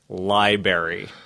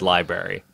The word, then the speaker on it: library: Like libary. Oh, That really bothers me. I had a professor at Millersville who said library, and it just drove me nuts.